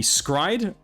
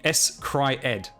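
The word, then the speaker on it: s-CRY-ed: i recommend uh now i don't know if the pronunciation is meant to be scribed but i'm pretty sure it's meant to be s cry ed uh hyphenate s hyphen cry cry hyphen ed s cryed i'm pretty sure that's how you pronounce it uh in this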